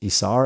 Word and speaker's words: Isar: So it's Isar is my first name, and it's pronounced Isar, and the last name is, like the month of May, but it's spelled.